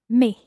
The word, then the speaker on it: mes: the plural form is me me okay now how would you spell me m-e-s now when you said the word for my in the plural form me you didn't pronounce the s but then when you